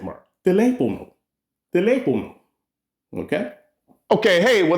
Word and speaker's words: teléfono: Teléfono. Now you know how to say telephone in Spanish. Teléfono. Okay? The reason why you're putting that little stress on the tele, is that accent mark. Teléfono.